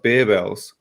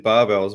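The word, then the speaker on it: Barebells: The weirdest one was barbells, which I believe is pronounced bearbells. Yeah. I've always just said barbells, but they did a video in English the other day, and they actually said bearbells.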